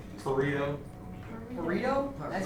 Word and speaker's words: Pareto: How do you say the one that's like Jacob's largest to small and it's like just Pareto.